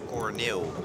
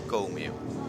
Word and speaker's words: Corneel: And I'm sorry, I think we pronounced the name wrong, and it's Corneel vrij, not Comil.